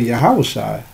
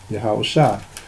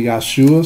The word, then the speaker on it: Yahawashi: Okay, now, we call him by the name of Yahawashi. Okay, that's what we speak. We speak the ancient Hebrew when we say his name, Yahawashi. Some people say Yahshua, some say other names,